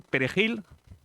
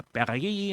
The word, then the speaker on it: perejil: La palabra perejil seguro que Lucía nos lo dice y se pronunciaba bien perejil nuestro, no pasa nada. y se decía Pagay, no pronunciaban la J, creo, ¿no?